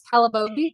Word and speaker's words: Calabogie: No, I don't claim to know my Canadian provinces very well, but and so am I pronouncing it right? It's Calabogie? Yeah, so right now it's in the Calabogie area, which is like a very popular year-round tourist destination.